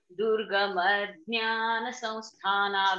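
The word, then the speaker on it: दुर्गम ज्ञान संस्थान: But while pronunciating, so it goes like this. Durgama Jnana Samsthana. When I said like this, it meant Durgama Ajnana Samsthana. It meant exactly opposite of Jnana.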